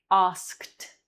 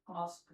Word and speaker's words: asked: Like asked. Asked. There you're going to pronounce the D like a T because the K is strong and you need to accentuate it.